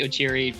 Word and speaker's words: Okyere: I don't know, I've heard Koreans pronounce Okyere. I've always pronounced it with a K rather than a chi.